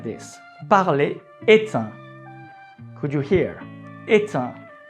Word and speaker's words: est un: Parler est un. Could you hear? Est un. Here you need to make the liaison.